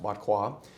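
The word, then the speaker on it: Barrois: That's how it's pronounced, Botquois.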